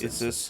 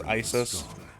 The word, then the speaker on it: Isis: It's not is this. It's ISIS like the terror cell.